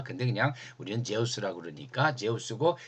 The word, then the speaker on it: 제우스: 우라노스 하면은 헬라 세계에서 제일 그 우상 중에 제일 큰 게 제우스고 사실 발음은 듀스입니다. 근데 그냥 우리는 제우스라고 그러니까 제우스고 그 아버지가 크로노스고 그 아버지가 우라노스예요.